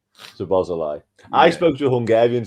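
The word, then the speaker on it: Szoboszlai: I've been told it's pronounced Sobozalai. Sobozalai.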